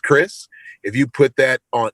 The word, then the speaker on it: Krizz: if you just put k-r-i-z-z which is pronounced chris if you put that